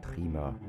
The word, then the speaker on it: Triemer: Their names are Triemer and Riedel, or in my best German pronunciation, Triemer und Riedel.